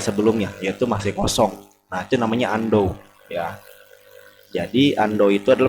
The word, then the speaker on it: Undo: nah yang pertama ada yang namanya Ando yang dibacanya Ando tulisannya Ondo dibacanya Ando ya fungsinya membatalkan perintah sebelumnya